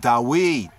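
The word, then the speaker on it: דוד: glide to it right so you have dalet d huawei w yod y that's how we get the proper right saying and pronunciation of dawid so some coming from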